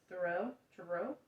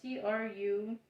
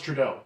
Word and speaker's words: Trudeau: should have figured out how to pronounce this uh throw to row i don't know where you're at it's uh t-r-u-d-e-a-u oh it's trudeau trudeau dr trudeau there we go that